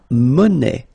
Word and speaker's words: monnaie: Then la monnaie. Monnaie, okay, final not pronounced.